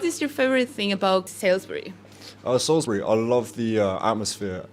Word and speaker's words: Salisbury: So it's like Salisbury. Salisbury. Yeah, but obviously with a British accent. Salisbury.